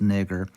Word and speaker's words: Niger: It's pronounced nigger.